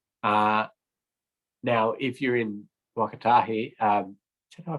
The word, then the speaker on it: Waka Kotahi: as council policy uh now if you're in wakatahi um should i pronounce it how do you pronounce it again captain i think it's waka kotahi okay yep that's it uh then yeah the